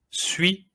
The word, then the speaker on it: suis: Je m'appelle et je suis polonais. Suis. We don't say the S at the end, you see? Suis. Polonais. It's like it doesn't even exist, but we write it.